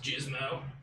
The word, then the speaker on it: Gizmo: And not that it's like, you know, a big deal or anything, but it's actually pronounced Gizmo. Oh, sorry, Gizmo.